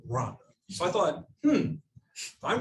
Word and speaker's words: Rwanda: started to think gosh there's no o in r it's r w a and and i actually asked how do rwandans pronounce rhonda well it they pronounce it run so i thought hmm